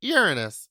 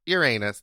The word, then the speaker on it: Uranus: Also, I just learned that you pronounce it Uranus, not Uranus.